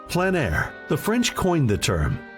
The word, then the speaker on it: plein air: Called plein air, the French coined the term, which means open air or outdoors. The French pronounce it plein air.